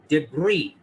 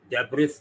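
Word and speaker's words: debris: बार यहाँ S silent है, इसको पढ़ेंगे डेब्री, डेब्रिस नहीं पढ़िएगा, गलत हो जाएगा।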